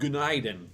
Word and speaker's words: günaydın: That's pronounced günaydın, which kind of sounds like good night, doesn't it?